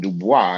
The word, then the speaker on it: Du Bois: I understand There's that no part, but the man did not pronounce his name Dubois. He pronounced linguist it Du pro, Bois.